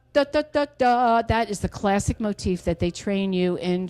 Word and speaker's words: motif: You can say it one of 2 ways. You can spell it one of 2 ways. First of all, you can create a motif. Some people pronounce it motive. Motif, I'm just sorry, old school. I believe that's German to say motif. It is some European language.